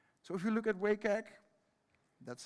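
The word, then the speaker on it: WCAG: still important today so if you look at wake egg that's how you pronounce it actually the guidelines are split into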